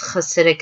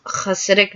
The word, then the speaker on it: Hasidic: it when I googled Hasidic Jews. If you can't do you could just say Hasidic, but the CH in Hanukkah and Hasidic, it's literally like a C sound and then an H sound.